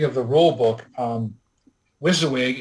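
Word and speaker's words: WYSIWYG: the rule book um wizawig is spelled w-y-s-i-w-y-g and it's it's talked about quite often in the Flames of worse circles it literally stands for what you see is what you get it basically settles almost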